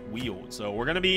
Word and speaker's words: Weald: So we have a 90% exploration on the ruins, or 100% rune battles in the Weald, which is how it's pronounced. Not Weld, apparently, but it's pronounced Weald.